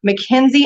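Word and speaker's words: McKinsey: am saying this right mckenzie and company i think yes that's right they spell it real weird though it's m-c-k-i-n-s-e-y and company they've done a big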